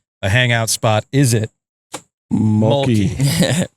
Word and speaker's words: Mölkky: Is it Molky? Mölkky. Oh, is that how you pronounce it? That's it. Molky? Yeah. Mölkky.